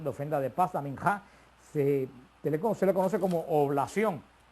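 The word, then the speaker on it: מנחה: Este sacrificio de oblación o de ofrenda se pronuncia en hebreo minjá, el sacrificio de minjá, y era un sacrificio no sangriento, a diferencia del holocausto, que era sangriento.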